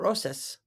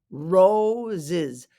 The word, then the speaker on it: roses: are roses roses not roses roses it's like there's two Zeds and not two s's